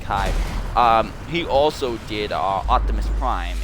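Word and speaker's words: David Kaye: And then David Kai also, or David K, however you pronounce it. I pronounce it Kai.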